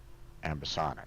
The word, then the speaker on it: ambisonic: what exactly the uh how to pronounce that because ambisonic okay that's that's how Oxford languages says it okay Amic gotcha all